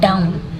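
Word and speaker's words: down: हैं सेकंड ठीक है डाउन ठीक है डाउन डी ओ डब्लू एन को बोलते हैं डाउन ठीक है डी ओ डब् डाउन डाउन तो यहां पे डब्लू साइलेंट रहता है फर्स्ट ठीक है कंटिन्यूड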